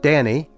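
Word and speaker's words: Dhani: the garden years later their son Danny which is the proper way to pronounce it by the way confessed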